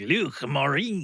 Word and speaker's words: Luc Morin: You got to get a little gurglier on it though, like Luc Morin. It's like gargle some water or something.